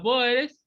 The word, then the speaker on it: Boer: El nombre Boer viene del nombre común neerlandés Boer, pronunciación Boer, ¿no?